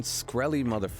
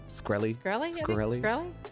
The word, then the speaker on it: Shkreli: it's those like that martin shkreli that like bought it so